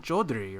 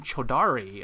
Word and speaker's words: Chaudhary: I'm like, you mean Chaudhary, right? She's like, no, I mean Chaudhary. I'm like, no. You got it all wrong. That's not how you say it.